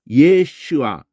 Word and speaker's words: 예슈아: 예가 여호와고 슈아.